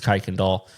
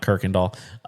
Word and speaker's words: Kuykendall: And shout out to JJ Kuykendall. Yes, it's Kuykendall, not Kirkendall. It is spelled the same, but it's JJ Kuykendall with Cruise Planners.